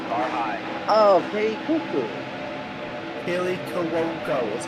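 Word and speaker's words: Kaley Cuoco: Kelly Cuoco is how you pronounce her name.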